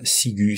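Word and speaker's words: ciguë: est plus logique puisque c'est le U qu'on veut entendre, donc là, sigu.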